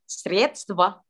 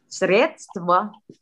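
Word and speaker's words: средства: Jadi bacanya sredstva. Oke. Kalau yang ini kayaknya harus banyak yang ngulang sih, karena bagian ini stva itu bagian yang ini itu agak susah dipronounce. Sredstva.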